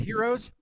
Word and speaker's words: gyros: Don't pronounce the G though. Is it So is it heroes? It's heroes.